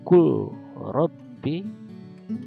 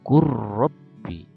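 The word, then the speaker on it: قل رب: Ini baca kul robbi, kita membacanya kur robbi, ya, hilangkan lamnya.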